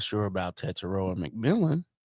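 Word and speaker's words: Tetairoa: Teteroa, yes.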